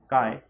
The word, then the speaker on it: chi: इसको काय बोलते हैं, स्पेलिंग है CHI काय ठीक है, स्पेलिंग है CHI लेकिन बोलते काय है।